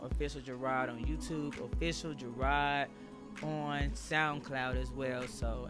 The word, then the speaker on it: Jerrod: I am Instagram official Jerrod. I spell my name Jerrod, not Jerrod. Everybody says Jerrod. I don't even know where they get this Jerrod from, but it's Jerrod. It's exactly how it's spelled.